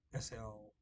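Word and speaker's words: Shough: It's not pronounced the way it looks. Slough.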